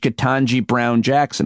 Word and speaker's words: Ketanji Brown Jackson: President Biden's replacement for Breyer, Judge Ketanji Brown Jackson.